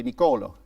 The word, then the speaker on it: Niccolò: wonderful so you know niccolò machiavelli excellent that I say it properly no what do you say Nikola you call oh you